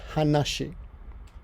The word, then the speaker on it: 話: one kanji and in this case is conscience pronounced hanashi hush it and this is this just means